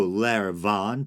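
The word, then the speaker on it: Láir Bhán: going to butcher this, it's spelled Lair Ban, but I think the BH is supposed to be pronounced with a V sound, so Lair Van, perhaps, the White Mare.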